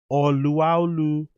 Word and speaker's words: Oluwalu: The correct pronunciation is Oluwalu. Oh wow, I didn't even know that. It's O. So that O is like an R. It's Oluwalu Slawn. Wowzers.